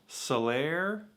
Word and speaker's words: Salers: They were saying Sailors, which apparently is pronounced Solaire. I'm not gonna pronounce it like that. Everyone I know calls it Sailors, and I'm American and I don't speak French.